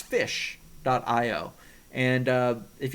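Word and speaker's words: ghoti: dot IO it's pronounced fish dot IO and uh if you don't believe me uh there is a look up the Wikipedia page for the word g-h-o-t-i it's not pronounced goatee it's pronounced fish and uh it's a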